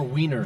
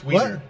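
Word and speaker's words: Wien: which stands for Weiener. Vienna. Yes. My wife's going to be in Vienna in a few months. What are you doing? It's Wener. You actually pronounce it Wener.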